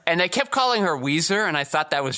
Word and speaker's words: Ouiser: And they kept calling her Weezer, and I thought that was just her last name.